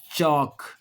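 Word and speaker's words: chalk: और भी हो सकता है चौक।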